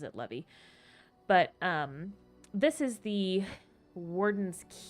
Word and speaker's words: Levi: I'm pretty sure he pronounces it Levy.